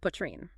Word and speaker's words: poitrine: And finally, poitrine. So you say pois, rhyming with spa, but with a red sound, and then trine at the end. Poitrine. Angine de Poitrine.